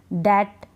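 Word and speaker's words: debt: हम नहीं पढ़ रहे दैट डाउट सटल ठीक ठीक है बी को प्रोनाउंस नहीं करें बी इसमें साइलेंट है इन तीनों स्पेलिंग्स को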